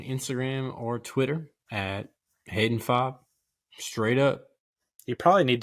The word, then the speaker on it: Fabre: vowel uh and then my last name the French name that I don't even know how they even pronounced it this way uh is FOB but it is f-a-b-r-e so follow me at